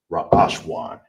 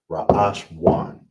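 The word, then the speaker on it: ראשון: So we have first, how you would say first is ra ash wan. All right? First is ra ash wan.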